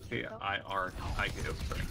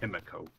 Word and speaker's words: Kiriko: It's how it's spelled. No, it's K I R K O. Because we have a cat named K-I-R-I-K-O. Kiriko. Not Kimiko.